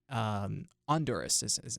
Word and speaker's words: Honduras: Juan is a student here at NC State University studying business administration, and he is from Honduras, or Honduras. That's how it's Yeah, pronounced in yeah.